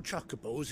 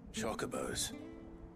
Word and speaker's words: Chocobo: Chocobos? You heard me right. Wild birds? Hmm? The big ones? I always pronounced it chocobo. Not just any chocobos at that. It's actually chocobo.